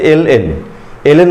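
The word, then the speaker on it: ln: আমরা অনেকেই এটাকে লন বলে বেশি অভ্যস্ত, আমরা বলি লন এক্স প্লাস 1, আসলে লন না, এটাকে তোমরা ক্লিয়ারলি উচ্চারণ করবে হচ্ছে এল এন উচ্চারণ করা হচ্ছে সঠিক নিয়ম।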